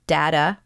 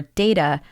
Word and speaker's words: data: been actually pronouncing differently the word data or data we've used it interchangeably in this episode and they are actually both correct they're just different ways